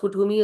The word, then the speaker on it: Kuthumi: In this, it is also written, Kuthumi, pronounced Kuthumi, is an ascended master, which appears as a very, very well dressed Indian man with golden aura.